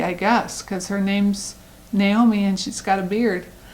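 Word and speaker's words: Gnaomi: And then they have one Naomi, and of course all of them are spelled with G-N-A-O-M-I and G-N-O-H, but this is Naomi.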